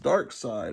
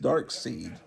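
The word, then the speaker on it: Darkseid: is important because it's the first appearance of dark side which I used to think was pronounced dark seed until I saw that everyone apparently pronounces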